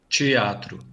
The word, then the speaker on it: teatro: Palatalization also occurs in de and te when they're unstressed with no accent mark and when they're followed by a in the next syllable. That's because in those cases the letter e actually sounds like the letter I.